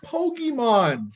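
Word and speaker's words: Pokémon: you say it properly it's you're saying it right it's pokemon it's just come on you don't you don't put too much uh oh no it's not emphasis on that okay yeah and it's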